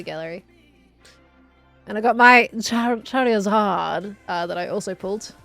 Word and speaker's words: Charizard: It's Charizard, not Chariad.